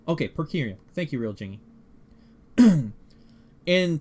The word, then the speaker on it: per curiam: It's pronounced per curiam. Okay, per curiam.